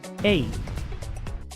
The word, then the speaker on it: eight: Eight. Esta palabra se pronuncia eight, porque la e se pronuncia e, luego se pronuncia la i, la g h es muda, luego se pronuncia la t. Eight.